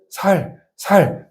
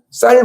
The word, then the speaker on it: 쌀: 서울에서 수십년 동안 살 목사님들도 그게 살 그래요. 쌀 발음을 못 하고 살 이렇게 얘기해야 되는 거예요.